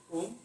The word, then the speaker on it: ओम: ओम बना है 3 अक्षरों से मिलकर बना है, ओम, आ, उ और मा, ठीक है।